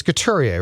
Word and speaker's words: Couturier: It's Couturier, right? Is it Couturier? I thought it was Couturier. I looked up the pronunciation.